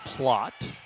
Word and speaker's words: Plot: And Garrett Plate will step in. For sub in for either team. Or Plot, I should say. It's pronounced Plot.